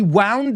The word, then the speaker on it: wound: We wound up, fijaos cómo lo pronuncio.